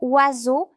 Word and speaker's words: oiseau: Dans certains mots, la lettre S fait le son Z comme dans oiseau. Dans le mot oiseau, je remarque que la